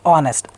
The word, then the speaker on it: honest: An honest. Nakul, H is there because it's pronounced as honest, a sound.